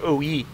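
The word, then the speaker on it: O-I: Or not the OI Experimental, the OI, excuse me. Excuse me, it's technically pronounced OE.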